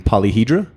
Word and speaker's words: Polyhedra: I got James and Alex from Polyhedra.